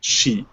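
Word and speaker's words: 死: this uh uh uh the sign for the number four is pronounced she in uh Chinese and the number for death is also pronounced she.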